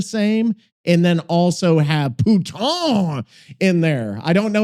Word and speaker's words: putain: Putain in French is pronounced roughly like pouton with the N nasalized. So it's more like puta. Okay. Poo sounds like poo, but shorter. Tain is like tan, but with the N half swallowed.